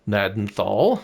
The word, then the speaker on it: Gnadenthal: the actual map of nadanthal that's how you pronounce it Manitoba uh so Elona